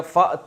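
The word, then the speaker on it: فأتوا: तो फ आ गया तो अलिफ साइलेंट हो गया तो क्या बन गया फत यु फिर उसको पढ़ते हैं फतू ले आओ बस सूरतिन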